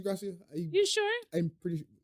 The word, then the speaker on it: Gracia: Garcia? I think it's Gracia. It's the Gracia. Let me Google this for you, butcher the man. No, it's Gracia.